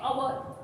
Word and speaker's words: hour: We keep this H silent. We don't say H. We don't spell it H. We say hour and hour.